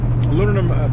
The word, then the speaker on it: aluminum: a piece of solid aluminum, right? Aluminum, that stuff. You know, nobody knows how to pronounce it. Aluminium, aluminum.